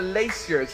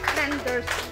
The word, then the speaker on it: Landers: Round of applause for Laciers. Is that the right way? Am I pronouncing your name wrong? Landers. Landers. Oh, sorry.